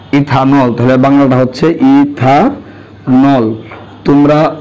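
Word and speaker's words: ethanol: ইথেন থেকে ইটা বাদ যাবে এবং ওয়েলটা যুক্ত হবে, উচ্চারণ হয় ইথান অল, ইথানল।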